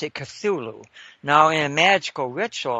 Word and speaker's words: Cthulhu: But I pronounce it Cthulhu. And I've heard it pronounced any number of ways, and they're all fine, you know, because they're all approximations to something that human beings can't really pronounce.